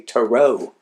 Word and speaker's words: tarot: Um I may be mispronouncing it. I say tarot, some people say tarau. And then I got a hillbilly guy that he goes taro.